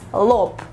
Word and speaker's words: лоб: This word is super easy in Russian and it's pronounced as lop, lop, lop.